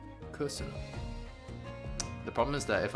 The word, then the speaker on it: köszönöm: Köszönöm. Oh. Köszönöm. Okay. Köszönöm. And there's an accent on the first syllable. There's accent on the following two. And higher pitched. Köszönöm.